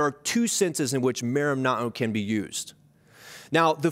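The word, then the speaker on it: μέριμνα: New Testament it's an interesting Greek word the pronunciation of it is merimna oh and it has a couple of subtly differ meanings there are two senses in which merimna can be used now the first sense is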